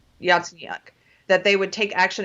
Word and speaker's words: Yatsenyuk: Yatsenyuk, that they would take action against the state prosecutor, and they didn't.